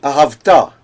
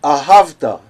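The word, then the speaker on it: אהבת: Therefore, the scribes put another pashta on the emphasized syllable, so that you should not read ahavta. They should read ahavta. And this is why we have two pashtas in some words. They are always mil'el words, words which are emphasized on the next to the last syllable.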